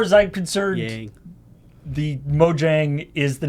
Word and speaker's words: Mojang: I personally have never heard anybody ever pronounce it as Mojang.